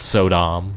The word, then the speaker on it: Sodom: to pronounce his name I think it's so Dom but I'd always thought I'm also but apparently it's Sodom like technically it's katana